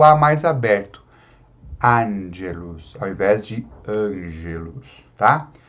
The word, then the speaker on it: angelus: Diácono aqui, então, angelus. Não é ange, é angelus, angelus.